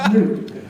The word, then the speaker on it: Nuke: It's pronounced Nuke.